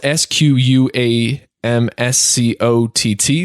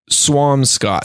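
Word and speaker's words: Squamscott: tried the proper way Swampscott so like a like a swan with an M and then Scott like Michael's so there's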